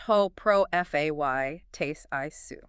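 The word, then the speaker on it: ὁ προφήτης εἶ σύ: Ho prophetos esu. Pronounced ho pro fay tes isu.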